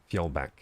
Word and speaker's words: Fjolback: Oh good, Fjolback. Yeah, we don't have that, in English we don't have the J thing, but I like the J thing a lot.